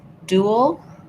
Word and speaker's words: dual: a duel with somebody, it has the oo sound and the ul sound. You end up a little in between, dual. It's one syllable, but because I'm moving from the oo shape to the shape, dual, you will hear a little sound in there. Same thing with this dual. They're both the same. The IPA is going to be first syllable stress.